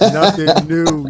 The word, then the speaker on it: Nothing Neue: It's pronounced Nothing New, yo. Yo, my guy, I appreciate you for tapping in with me, man. Yo, y'all support Nothing New.